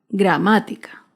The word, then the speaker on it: gramática: ejemplo con la palabra gramática gramática se acentúa en la ante penúltima sílaba gramática otro claro ejemplo es